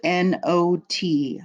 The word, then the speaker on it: knot: K is silent k n o t not k n o t when you in English when you see a k and an N together the K is silent k n o t